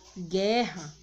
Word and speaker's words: guerra: de dígrafo por exemplo quando eu falo a palavra guerra eu não falo guerra eu falo guerra tá vendo que o som do não está ressaindo e está aqui antes